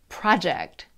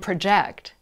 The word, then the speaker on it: project: there are some rules two syllable nouns usually have the first syllable stressed so picture table project but two syllable verbs usually have the second syllable stressed provide and project